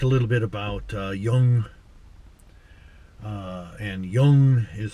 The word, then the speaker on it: Jung: we just talked a little bit about uh young and young is spelled j-u-n-g all right carl gustav jung